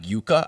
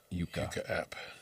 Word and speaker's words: Yuka: It's called Yuka. I think that's how you pronounce it.